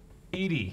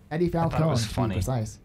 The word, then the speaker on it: EDI: didn't think so oh you called her by the right name this time right pronunciation edward yeah that's that's right that's eight people no you kept calling her um eddie like on two feet